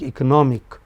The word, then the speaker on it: economic: But, economic or economics the third syllable from the beginning.